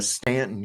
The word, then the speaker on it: Staunton: it on the app we have a Stanton here in Virginia but it's spelled Staunton that's how I can spot